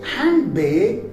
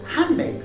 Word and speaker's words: handbag: So in connected speech, we don't say handbag, rather we say handbag.